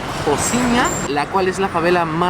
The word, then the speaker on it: Rocinha: The specific favela is called Rocinha or pronounced locally it "Jociña" Wich is the largest